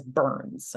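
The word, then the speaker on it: BHRNs: rest of this call I'm going to pronounce as Burns okay that's how you say that acronym burn um and it created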